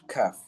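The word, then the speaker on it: ك: letter qaf is not kaf. Okay? Kaf is like cake. Okay? Cake. The C which we pronounce in cake. Okay? That is where the letter kaf comes from. Cake. Kaf, cake. Okay?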